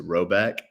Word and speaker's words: Rhoback: We are fans of polos from our friends at Roback.